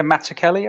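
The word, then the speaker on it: Mazzucchelli: Kelly I believe it's actually he pronounces it with a hard k oh like Matt matzo Kelly isn't it someone like yeah Mata Kelly I think yeah yeah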